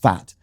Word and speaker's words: Safed: he was brought up in Safed, pronounced Sfat, where he said that, the Arab Liberation Army in the end moved out. And me and my family, I was just a boy, we left Sfat and we fled because